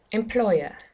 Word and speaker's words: employer: the next word was employer employer employer it's the second syllable this time it's not an employer it's an employer well done the second